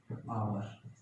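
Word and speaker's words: hour: आवर, honest, honest man, honourable CM, year, इसका मतलब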